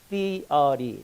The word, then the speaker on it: theory: TH 발음은 잘 안 되시면 쌍디귿으로 하시면 거의 비슷하게 됩니다. theory.